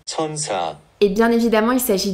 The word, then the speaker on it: 천사: En réalité, le nom de la marque Skin 1004 ne se prononce pas du tout comme ça. En fait, le nombre 1004 se prononce ainsi en coréen. 천사. Et c'est de la même manière que le mot ange. 천사. Donc en réalité, on devrait prononcer la marque comme ça. Skin. 천사.